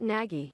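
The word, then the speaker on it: Nagy: does it pronoun I I Googled how do you pronounce Matt naggie NE and it came up as this like a pronunciation guide for his name somehow okay Matt naggie all right I was always a naggie guy but then then I hear Nagi a lot and we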